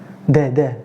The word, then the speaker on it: دال: Da, because I pronounced the light sound.